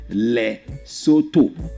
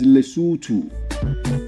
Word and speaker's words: Lesotho: It's Lesotho. It's Lesotho, not Soto. All of the O, all the O's you see in that name are pronounced ooh. So it's Lesotho.